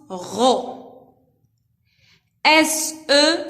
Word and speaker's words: Rose: R devant O se prononce RO. SE se prononce ZE. Parce qu'il S entre deux voyelles se prononce Z.